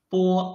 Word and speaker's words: 波: 波 When we read 波, you can feel that your lips are blocking the airflow, and then suddenly open your lips to let the airflow rush out of your mouth.